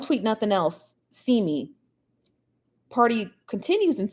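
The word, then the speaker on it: Pardi: okay so i guess megan the stallion's boyfriend party i think that's how you pronounce it p-a-r-d-i is coming for tory lanez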